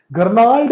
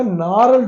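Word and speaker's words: gnarled: का तरीका होता है गर्ल्ड नहीं होता नार होता है क्योंकि जी साइलेंट होता है कुछ वर्ड आपको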